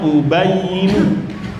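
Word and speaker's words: أُبَيِّنُ: Nah, itu bacanya ubayinu.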